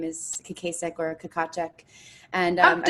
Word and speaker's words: Kakacek: So there are actually two pronunciations. The American version is Kakacek, but in the Czech Republic, it would be Kakacek.